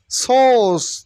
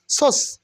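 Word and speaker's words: source: উশৃঙ্খল অথবা ব্যাধি disorder সোর্স নট সোর্স সোস সোস সোস মানে উচ্চ আর উইল বি সাইলেন্ট হেয়ার একটু প্রেসারাইজ করতে হবে একটু প্রেসার দিতে হবে মিন উৎস ইনস্টিটিউট ইনস্টিটিউট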